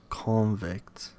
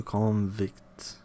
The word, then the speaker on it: convict: Stress goes on the first syllable of the noun as in in import. and convict and an insult. But on the second syllable of the corresponding verb to import, to convict, convict, convict, convict, convict to insult.